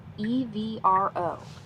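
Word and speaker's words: ευρώ: In Greek, euro is spelled evro and pronounced like e v r o with the stress on the second syllable.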